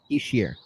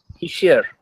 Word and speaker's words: Hischier: Hischier. Hischier. Nico Hischier.